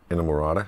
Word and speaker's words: Inamorata: There's can someone please pronounce the last song on the record, please? Inamorata.